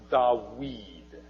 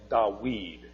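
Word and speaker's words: דָּוִד: was a walk duh bead would have been pronounced da weed okay with a wool sound and in fact in Arabic it still dot weed it's a wah sound in Arabic not a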